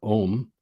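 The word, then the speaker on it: Ogham: And that's why, if you look into some of the mythology of the Ogum, or Om, as it's pronounced, it is said that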